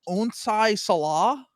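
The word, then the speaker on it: Onsi Saleh: Onai Salah.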